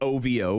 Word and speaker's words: OVO: OVO, spelt OVO, which you've probably seen the signs by now, but pronounced OVO.